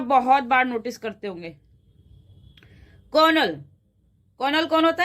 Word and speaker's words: colonel: कर्नल, कर्नल कौन होता है? जो हमारी आर्मी में कर्नल है, उसको कैसे शो करते हैं? COL डॉट। हम बोलते क्या है? कर्नल, लेकिन स्पेलिंग क्या होती है? कर्नल।